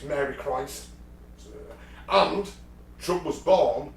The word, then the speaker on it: Christ: It's actually pronounced Christ, not Christian, yeah.